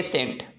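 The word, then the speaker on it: scent: सी आपका साइलेंट रहेगा यस के बाद जो सी आता है साइलेंट होता है जैसे ए सेंट एक्सेंट साइंस टीचर्स में आपको दिखाई दे रहा है उसे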